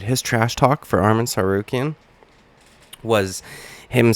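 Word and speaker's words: Tsarukyan: trash talk for Armin sarukin was him saying that he has a silent T at the beginning of his name well guess what Michael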